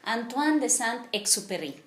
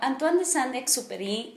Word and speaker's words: Antoine de Saint-Exupéry: muy conocido que es muy conocida que es antoine de saint exupéry bueno pues no estudió francés pero así su puestamente se dice supuestamente así se pronuncia pues bueno antoine de saint exúpery nació en lyon francia un 29 de junio